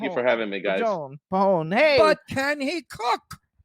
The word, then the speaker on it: Pajon: Pajon. Pajon. Okay. Yes. I told you that. How come you never can do people's last You name? did not. You said Pajon or No, something. the J is silent.